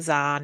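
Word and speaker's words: Kzahn: and always change, like, especially the character Zahn in my book, which, to be fair, should look like phonetically that it's spelt with a Z, but I've spelled it with KZ, and then the K is silent, and you just go, oh my Yeah.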